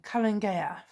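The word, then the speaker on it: Calan Gaeaf: as a harvest festival i've said it wrong cullen gayath and we'll have it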